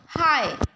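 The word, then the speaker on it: high: Beta silent रही जाउची climb हैला, तो साइलेंट लेटर आसी जिबा हमरो बी। सेही बळी भाबरे हाई, एच आई जी एच।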